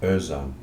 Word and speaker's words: Özan: And it's traditionally Özan, with the O as an umlaut over it, like in German.